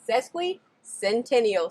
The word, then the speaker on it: Sesquicentennial: amazing thing and that's how to say it sesquicentennial state park all right i hope you guys